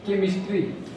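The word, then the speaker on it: chemistry: इसको कैसे बोलेंगे तो सी का उच्चारण क के रूप में होता है इसके लिए हम कुछ उदाहरण लेते हैं जैसे कि केमिस्ट्री यहां क्या है सी है सी यानी सी के साथ एच लगा हुआ है फिर भी हम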